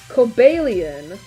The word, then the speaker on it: Cobalion: Just know the official pronunciation is Cobellian, but I think it's Coalian.